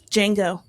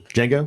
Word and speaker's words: Django: else uh you're next django okay the i was like they're not going to think of this because the d is silent i still think it's